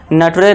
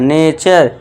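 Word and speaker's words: nature: इसे क्या पढ़ेंगे? नेचर नटरे नहीं पढ़ना है। नेचर इस तरह से फ्यूटरे नहीं फ्यूचर।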